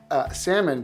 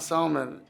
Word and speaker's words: salmon: But I just pronounced the L. Salmon? Yeah. Like you're like Latino. Meanwhile, I also was an adult, so it's an adorable story. I was like, I was 8, I was a full adult. Yeah. And they're going, it's not salmon. It's like the L is silent.